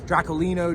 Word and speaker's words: Draculino: cool for a name so say that yeah draculino dra yeah I was say just got to throw a portug Portuguese Accent on it you'd be